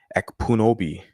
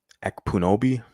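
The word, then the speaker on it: Ekpunobi: Because I have a difficult time pronouncing it. Epunobi. Epunobi.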